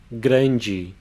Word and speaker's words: grande: The sound of that A is and before that you have the R pronounced as a light trill, gran.